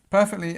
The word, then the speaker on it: perfectly: So, pronunciation-wise, perfectly, again, we start at the beginning of the word on our stress. We have this this long sound, this sound, and we have perfectly, perfectly.